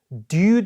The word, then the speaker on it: due: 영국이나 호주 사람의 발음이 조금 더 due 사운드가 약간 j 사운드에 약간 가까워요. 그래서 due date보다 약간 due date 이렇게 들리죠.